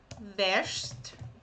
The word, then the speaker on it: wäschst: ich wasche, aber du wäschst. So here we change the pronunciation. Okay, this is e. Okay, when you add umlaut, those two dots on the vowel, it's pronounced like e.